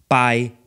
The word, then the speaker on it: padre: The word padre, meaning father, becomes pai.